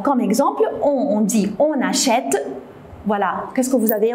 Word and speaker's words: achète: Alors comme exemple, on dit on achète. Voilà, qu'est-ce que vous avez remarqué? On n'a pas doublé le T, mais on a mis un accent grave pour le E, pour la prononcer est.